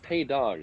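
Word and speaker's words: Pays d'Auge: of these casks again they're calados pay do so uh calados and then p a y s d AO apostrophe a u g e typical typical spelling that's how we spell it in Texas it's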